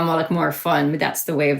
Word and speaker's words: Mullaghmore: Well, we shorten it to Mully a lot, but yeah, Mullaghmore.